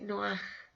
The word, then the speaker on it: Noé: En hebreo se dice Noaj, ¿ya? Con una H al final que se pronuncia como J.